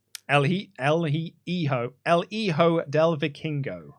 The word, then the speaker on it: El Hijo del Vikingo: El Hijo del Vikingo." El Hi- El Hi- Hijo El Hijo del Vikingo. El Hijo del Vikingo.